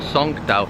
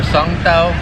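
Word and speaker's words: songthaew: And that public transport, I didn't know the name the other day, but I think it's called Songtao. I think that's how you pronounce it here.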